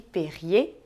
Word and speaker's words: Perrier: a água com gás você percebeu que a gente só para o no seu r do Meio bem Garnier Kart e Perrier é que e r em francês tem som de e entendeu quando o r